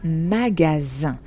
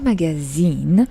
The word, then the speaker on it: magasin: It's magasin. So the S is pronounced like a Z. When do we do that in French? How do you know if an S is S or if it's Z? I hope you can hear the difference. Well, it's just when you have one S between two vowels, and those vowels here are A and I. A et I. Then the S is going to be pronounced as a Z.